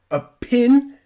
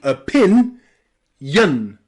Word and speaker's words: opinion: billion and also opinion opinion we don't say opinion we say opin Yun Yun with that y